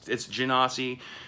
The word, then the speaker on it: Genasi: You want to know why it's Genasi? Because they're half genies. That's where the Gen part of Genasi is being derived from, is genie.